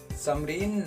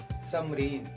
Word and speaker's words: Samreen: समरीन नाम का स्पेलिंग है SAMREEN, समरीन।